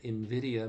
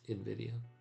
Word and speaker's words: Nvidia: It's just the name Invidia sounds the same. I guess that's Latin as the company name as I've heard it pronounced. Nvidia.